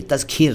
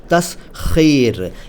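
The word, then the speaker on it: تسخیر: उच्चारण देखिए, तस्खीर नहीं, तस्खीर।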